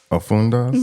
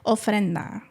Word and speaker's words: ofrenda: just taught you how to say it. Ofrenda. Ofrenda. Ofrenda. Ofrenda. Stop acting like you can't say it.